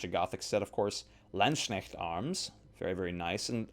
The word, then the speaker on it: Landsknecht: Landsknecht arms, very, very nice. And I'm pronouncing that in the German fashion rather than saying Landsknecht or Landsknecht. Like, no.